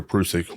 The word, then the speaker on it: Prusik: suspension option right the prusik or prusik whichever way anybody wants to pronounce it because it is pronounced both ways I think um that